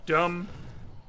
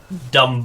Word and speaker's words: dumb: All these things where they were silent, they do have silent letters that they were pronounced in the past. I'm like, sure you would have pronounced it dumb.